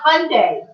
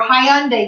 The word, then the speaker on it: Hyundai: Then you have Hyundai or Hyundai, depending on how you want to pronounce it.